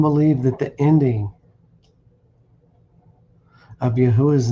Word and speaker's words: Yahuwah: The Wa is the vowel letter sound U. It is not pronounced as the constant W, since the Hebrew Aleph Beth does not have a letter to correspond to our W. The letter W was first appeared in the 13th century. It should not be thought of as a double anything. It is simply a U. So now we have 2 syllables, Yah plus U.